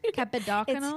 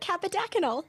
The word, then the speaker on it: Kappadakunnel: Please remind me of your surname pronunciation, cuz I'm going to mess it up again. Capidacyl. Capid. Yes, you got it. Capidacyl.